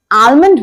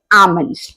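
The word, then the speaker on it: almond: है आमस याद रखिए भले ही स्पेलिंग में एल आता है लेकिन इसके उच्चारण में प्रोनंसिएशन में एल साइलेंट होता है तो अगली बार अगर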